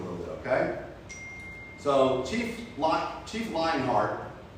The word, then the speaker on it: Lionheart: So Chief Lionheart, I said it right, Lionheart, L-Y-I-N-G, Lionheart.